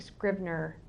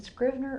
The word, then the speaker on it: Scrivener: that however I think Scribner is a Scrivener or Scribner v-v okay I didn't want to keep mispronouncing Scrivener I think that program